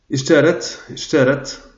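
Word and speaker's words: اشترت: Ishtarat, on doit bien prononcer le ra, ishtarat, donc a acheté, donc l'entreprise a acheté, pardon, c'est le cas objet, huquqa al-kitab.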